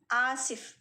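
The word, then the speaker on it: آسف: में आप कहेंगे आसिफ, आसिफ। बिल्कुल नॉर्मल सा है, आप इसको बिल्कुल हलक वगैरह से नहीं, बिल्कुल अलीफ वाला जो प्रोनाउंसिएशन है वही आसिफ।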